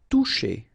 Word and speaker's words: toucher: Toucher. Okay, remember you combine this O and U, you get the sound OU, and then C and H, sh.